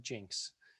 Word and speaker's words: Jenks: borders jinx is a so spelled jenks pronounced jinx this is a one